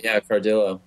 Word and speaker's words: Cardillo: Yeah, Cardillo.